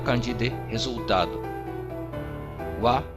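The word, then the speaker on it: は: Wa é uma partícula que indica o tópico da oração, que em vez de ha nós pronunciamos wa.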